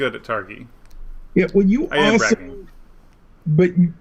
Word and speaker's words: Targi: loud and clear so someone's saying it's tar g and someone's saying targhee um it's ghee as in gif that's what one person says according to the designer it is a hard g sound that's from uh carrie